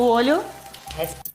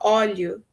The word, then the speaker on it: óleo: Se você joga as coisas de longe, o olho... Essa foi a única interferência, uma das pouquíssimas interferências do espanhol que dá para perceber na pronúncia da Paola, né? Que ela não conseguiu falar óleo, ela falou olho, né?